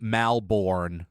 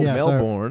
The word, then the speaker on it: Melbourne: but I mean as so many Americans pronounce Melbourne Melbourne oh Melbourne that's too many vows yeah pretend there are none Melbourne Melbourne you know